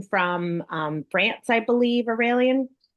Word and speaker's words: Aurelian: Um my name is Aurelian. It's pronounced uh like Australian.